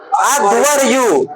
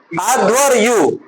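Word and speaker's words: अध्वर्यु: अधु अधु अधव यु अध्वरयु अध अधव संयुक्त र र याद रखिएगा उसको याद रखिए रेप है पहले अधव अधव अध्वरयु अध्वरयु याद रहेगा ऋग्वेद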